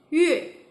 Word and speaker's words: 月: Okay, remember when Y followed by U? The U is not pronounced as U but as Yu, so 月.